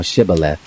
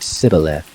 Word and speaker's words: Shibboleth: If he said no, then they said to him, Say now Shibboleth. And he said Sibboleth, for he couldn't manage to pronounce it right.